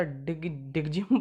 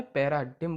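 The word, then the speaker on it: paradigm: ये ना हो, पैरा डिगजिम पढ़ो। नहीं, जी इसमें साइलेंट रहता है, पैराडिम बोलते हैं इसे। जब प्रोनाउंस करते हैं तो इसे पैराडिम बोलते हैं।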